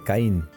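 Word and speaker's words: קין: Así, llegamos a la conclusión de que aquí se escribe la K, la rayita, que es la pataj, la I y la N, que dice Caín.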